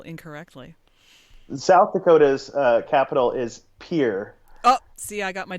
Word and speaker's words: Pierre: machine because it's 1993 and said it's actually pronounced Pierre and so they put that in the soundtrack itself so there you go not that you were wondering but it is pronounced Pierre South Dakota and all the South Dakotans rejoiced